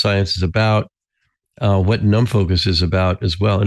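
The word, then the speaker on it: NumFOCUS: what open source science is about uh what num focus is about as well and is it pronounced that way yeah it's num Focus yeah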